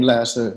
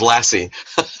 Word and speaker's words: Lasse: in in the US it's a Danish name that has certain vowels in it that the American ear can't really hear so I'm used to almost any pronunciation and that's fine short of Lassie yeah that's that's that's